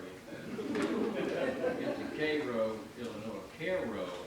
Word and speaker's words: Cairo: Cairo, actually, the correct pronunciation, like K-E-H-R, Cairo, Illinois.